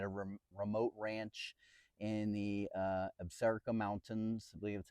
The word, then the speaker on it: Absaroka: We were in Wyoming at a remote ranch in the Absaroka Mountains.